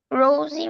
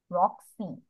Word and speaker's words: Roxy: Rosie, maybe, was a water nixie. She Rock. liked to. Miss, what you say? The pronunciation is Roxy.